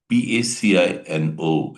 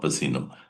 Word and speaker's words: Pacino: Actually it is pronounced as Pacino. He had given a speech on inch by inch in 1999. Once again that's pronounced pacino not pino it's pacina you have to pronounce it this way.